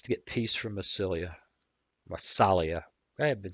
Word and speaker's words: Massalia: Massalia.